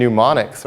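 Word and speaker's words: mnemonics: extra dorky right CU knowing and pneumonics are both silent letters right so you have to know pneumonics is spelled with an M um many of you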